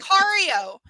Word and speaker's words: Sicario: Yes, it was, because what I haven't happened, seen that one, but Sicario is how it's pronounced.